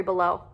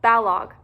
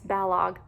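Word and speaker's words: Balogh: slightly wicked by mary below but balog i keep saying below and it's balog i listen to rosalind say that so i need to say it right um but yeah that's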